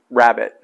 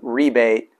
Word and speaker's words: rabbet: The American English say rabbit, like the animal. The British English say rebate, like a rebate on a car, you know, getting money back.